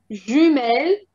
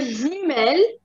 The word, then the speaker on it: jumelles: And here, jumelles, only one, both of them, the jumelles with the S in the end, and it doesn't change the pronunciation either.